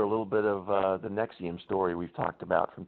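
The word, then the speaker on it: NXIVM: reminds me Peter a little bit of the nexium story we've talked about from time to time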